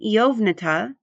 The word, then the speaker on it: Eovnata: The Nevnamonian noun Eovnata, meaning eternity, is pronounced E-ov-nata, as in saying oval.